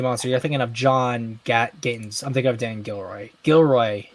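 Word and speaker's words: Gatins: You're thinking of John Gatton's. I'm thinking of Dan Gilroy. Yeah, John Gatton. I said John Gatton. Oh, then that's my fault. I called him John Gayton. Maybe I just got his name wrong.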